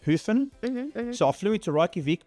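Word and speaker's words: Höfn: is a city called Hofen, or I think it's pronounced Hufen.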